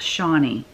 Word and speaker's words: Shawnee: Oh, she tells me how to pronounce her name and it's Shawnee.